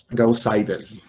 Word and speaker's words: Gauss-Seidel: Gauss-Seidel, de hecho se pronuncia.